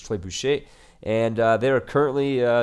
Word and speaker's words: trebuchet: I was going to say tree bucket, but let's be honest, it's a really like you know English way of pronouncing it. The word is tybush and they are currently